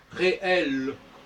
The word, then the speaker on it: réel: Réel, c'est comme s'il y avait un E muet, et réellement, c'est comme s'il y a un E fort.